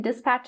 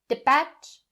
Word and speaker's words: dispatch: of the first one the s sound don't drop it or skip it don't say de patch de patch not correct dispatch dispatch the next pronunciation point